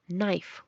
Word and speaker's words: knife: Rain reinar design diseñar otra consonante que es silenciosa al estar antes de la n es la k como en Knife cuchillo no saber mientras que